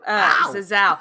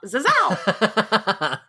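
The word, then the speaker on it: Zazzau: I did find someone on Twitter that told me, I think phonetically an American would say it like this. So that is what I'm going off. Zazao.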